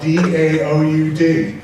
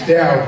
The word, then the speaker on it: Daoud: I know I feel down at night, but my name is spelled D-A-O-U-D. It's Daoud, not Daoud.